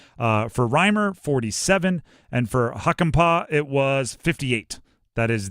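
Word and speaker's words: Hakanpää: Yanni Hunkampa, Carolina Hurricanes. 66. Incorrect. James Reimer, Carolina Hurricanes. Yeah, those got me. There were some tough ones. Huckenpaw is the way to pronounce that one, by the way.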